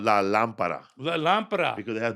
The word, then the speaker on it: lámpara: And there's the lámparo. It's la lámpara, or it could be a lámpara. La lámpara, because that's the way you speak.